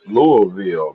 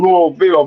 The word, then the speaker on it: Louisville: If you was really talking about Louisville, it's Louisville. It ain't no Louisville, it's They want Louisville.